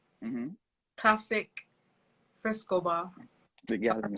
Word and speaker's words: Klassik Frescobar: Klassik Frescobar. The Am I Gallum saying it right? Star. Am I saying it Yeah. right? Yeah, classic Frescobar, the How did, Gallum Star.